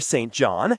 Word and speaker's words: St. John: St. John, he pronounced the name carefully as two equally stressed words.